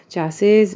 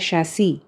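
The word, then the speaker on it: chassis: चैसेस, इसका pronunciation actually होता है शैसी.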